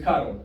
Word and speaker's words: Karol: I love the way Americans say this name, by the way. It's Karol, right?